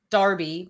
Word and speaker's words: Derby: probably d-e-r-b-y again yeah there's a town here called Darby but it's spelled Derby d-e-r-b-y do you pronounce it Darby so then if you